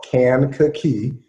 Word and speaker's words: Kankakee: in a city called Kankakee you could just break it down three syllables I hug Kankakee Illinois